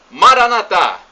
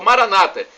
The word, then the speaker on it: Maranatá: Maranatá, como dizemos nós católicos, ou Maranata, como dizem nossos irmãos separados, os evangélicos ou protestantes. Não importa a pronúncia. O significado é o mesmo.